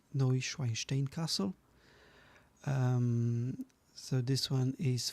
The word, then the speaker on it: Neuschwanstein: Next one is this German Bavarian castle, Neuschwanstein, as far as I remember. That's how it's pronounced, Neuschwanstein Castle.